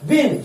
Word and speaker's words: been: बिन क्या है? Spelling BEEN होता है, नहीं बुझा रहा होगा, BEEN।